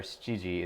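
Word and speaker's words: 七時: 7 Oh, I said kuji. That would be 9 o'clock. Nana or shiji is how you pronounce it.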